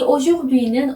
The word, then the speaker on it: aujourd'hui: 이 aujourdhui는 오늘이라는 뜻의 단어입니다. 자, 다시 한번 천천히 발음해 볼게요.